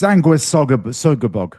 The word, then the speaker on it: Sanguisugabogg: Sanguisugabogg.